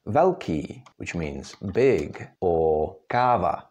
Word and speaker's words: velký: In Czech words, you could find it, for example, in words like velký, which means big, or káva, that's coffee.